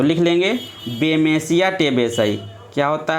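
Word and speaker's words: Bemisia tabaci: ठीक है, आप लोग लिख लेंगे टेबेसाई। थोड़ा सा आप सही से लिख लेंगे, कोई दिक्कत नहीं, हम सही बोल रहे हैं, आप उच्चारण को ध्यान पे रखना बस।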